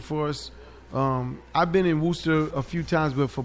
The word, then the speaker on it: Worcester: How do you say Worcester.